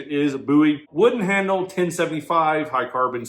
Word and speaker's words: Bowie: knife some people say buoy some people say buy technically the real pronunciation is buoy wooden handle 1075 high carbon steel you know